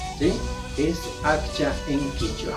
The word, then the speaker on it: akcha: Tal como estoy escribiendo, pronuncio. Akcha. ¿Ya? Entonces, ¿cuáles son las 3 palabras que habíamos aprendido? Es rin-rin, shimi, akcha.